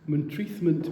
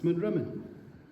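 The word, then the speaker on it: Montreathmont: Montreathment Moor. I've never heard a local pronounce that. It's Monrimmen, Moor of Rumen, or at least.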